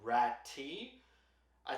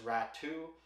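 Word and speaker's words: Räty: rat some people say rat too his brother just got traded in that Horvat trade with the Islanders and I saw some people pronounce it as rat II but hockey reference pronounces it rati so uh take your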